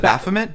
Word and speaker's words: Baphomet: There's a statue of how do you pronounce it? Baphomet. Baphomet.